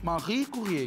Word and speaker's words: Marie Curie: Olha porque pronúncia. Marie Curie.